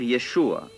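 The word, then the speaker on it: ישוע: le nom de jésus pourvu qu on le prononce en hébreu c'est à dire y échouer il faut seulement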